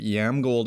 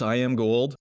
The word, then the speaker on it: Iamgold: always kind of wondered was it yam gold or I am gold it is I am gold and he actually gave